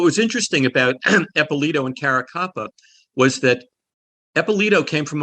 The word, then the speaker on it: Caracappa: It's Louis Ippolito and Steve Caracopa. Did I get those pronounced right? Caracappa. Caracappa.